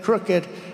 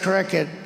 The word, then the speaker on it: crooked: They had a word the other day, crooked. I said cricket, you know.